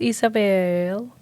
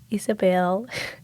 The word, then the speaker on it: Isabel: resiliency I'm your host Isabel Isabelle Isabel sorry sometimes I just get like I just say my name in like with accent you know Isabel but no Isabel as you can see